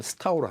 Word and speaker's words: 석도: 그 석도라고 하는 이제 중국어로 발음은 스타오로 하는데 이 석도라고 하는 분이